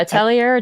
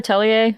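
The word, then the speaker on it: Atelier: Um, Gust, I had to look up Atilier. Is that how you pronounce that RPG series, Kelsey? Do you know? Yeah, Italier. Attelier.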